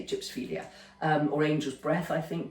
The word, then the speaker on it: gypsophila: though I know they're pronounced over here as gypsophila, but it's a Greek word, so I say gypsophilia, or angel's breath, I think, baby's breath, whatever you want to call it.